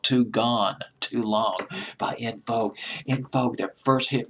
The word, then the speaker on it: En Vogue: Well, up 9 notches from 38 the previous week in Vogue, or it could be pronounced as Unvogue. I remember Kurt Loder of MTV pronounced it as Unvogue, but I'm going to stick with In Vogue.